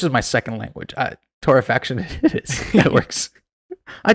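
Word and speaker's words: torrefaction: episode as well but I think it's pronounced Torah faction not torification oh my God or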